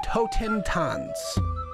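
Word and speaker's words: Totentanz: we can work on toe ten tons that's literally how you say it dear now that that's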